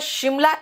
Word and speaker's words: Simla: बेटा शिमला SIMLA बिल्कुल ठीक है, क्योंकि S का प्रोनाउंसिएशन श भी होता है, जैसे शुगर, जैसे श्योर, ठीक है ना, इसीलिए जरूरी नहीं है H लगाना।